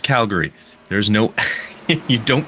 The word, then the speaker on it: Calgary: go anywhere outside of where we're from it's Calgary no it's Calgary there's no you don't pronounce it like that I swear so I